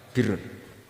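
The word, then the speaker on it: بِرّ: Ya kalau di isim fa'ilnya umumnya guru-guru kita baca barin, tapi untuk masdarnya untuk kebaikan bacanya apa? Birun. Nanti kamu protes, oh Barun itu daratan Gus, kalau Birun itu kebaikan.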